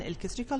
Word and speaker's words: electric: el electric charge electron so again you're having problems with the the LEC uh combination there so because the